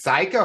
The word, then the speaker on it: Cayko: Serial entrepreneur architect Builder Pro fisherman it's psycho how you doing today Alex I'm doing well thank you for pronouncing my name correctly I appreciate that you're